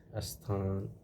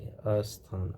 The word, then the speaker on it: स्थान: अब देखिए, स्थान, स्थापना, स्नान, स्पष्ट, इसमें अ नहीं लगाना चाहिए, लेकिन हमारे कुछ क्षेत्रों में क्या किया जाता है, इसका जो उच्चारण किया जाता है वो अ लगा के, अस्थान, अ लिख करके, ये अशुद्ध होता है।